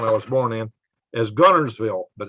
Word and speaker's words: Guntersville: was born in is gunnersville but it's spelt guntersville but we never pronounced the t so there you are